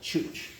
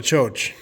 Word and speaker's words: Ciocc: I have another bike that's not here called a Chooch. Chooch. CIOCC. And everyone argues about how to pronounce it. Yeah, I would have called that a choach. And I did that all my life until I heard the